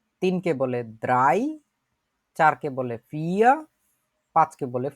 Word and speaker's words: vier: 2কে বলে সোয়াই, 3কে বলে দ্রাই, 4কে বলে ফিয়া, 5কে বলে ফুনফ। আমরা যারা যারা উচ্চারণ করতে চাই, যাদের আগে জিনিসগুলো শেখা আছে, তারা উচ্চারণগুলো বলার চেষ্টা করব।